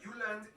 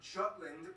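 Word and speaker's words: Jylland: denmark is made of the uland not jutland peninsula that connects to germany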